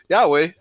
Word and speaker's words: Yahweh: And it translates to Yahweh. That's the way it's pronounced by in Hebrew actually.